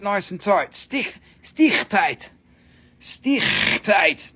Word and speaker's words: stichtite: Stichtite, that's how they say it in South Africa, Stichtite.